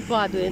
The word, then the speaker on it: Падуя: появилось название подули и по-русски она везде пишет спаду и произносится падуя но вообще по-итальянски везде написано вкладывая и мы привыкли называть ее padova в общем то как